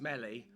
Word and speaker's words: Melly: Um, and also my form my form tutor um, Mrs. Melly, which rhymes with smelly.